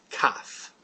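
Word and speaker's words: כף: or a syllable, and it's pronounced like a K. In fact, the name of the letter is Kaf.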